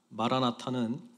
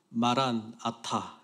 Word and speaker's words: 마라나타: 마라나타는 발음을 어떻게 하느냐에 따라서 뜻이 약간 달라지는데요. 마라나타 이렇게 발음을 하면 주님 오십시오 이렇게 뜻이 되고요. 마란아타 이렇게 발음을 하면 주님이 오셨습니다 이런 고백이 됩니다.